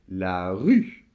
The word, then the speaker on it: rue: marche une donc là la rue alors évidemment le r on en a déjà parlé et faites attention le final évidemment ne se prononcent pas donc vous avez la rue et dernier mot de